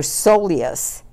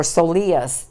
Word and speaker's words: soleus: the gastrocnemius you have your soleus or soleus depending like i said who's pronouncing it which would be the